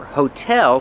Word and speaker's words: hotel: Remember hotel put the stress on the second syllable hotel. Not hotel but hotel.